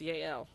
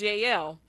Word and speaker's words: Jael: There's another really interesting woman that's a part of this story, and her name is Yael, but it's spelled Jael, but I believe it's pronounced Yael, right?